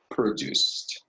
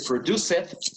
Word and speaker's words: produced: And are produced. ¿Ok? Lo que decíamos antes, ¿no? Esto no se pronuncia produced, sino produced. Produced. Generalmente la E con la E del ED no suena generalmente, ¿no?